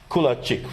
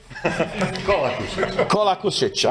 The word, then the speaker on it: Kolakušić: And another colleague from Croatia, Kulačić, right? Do I pronounce it correct? Right now, not. Kolakušić, I know it's tough with all these names.